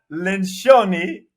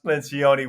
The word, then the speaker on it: Lencioni: Pat LENCIONI, or pronounced LENCIONI, welcome to the David Nurse Show, where we optimize for excellence.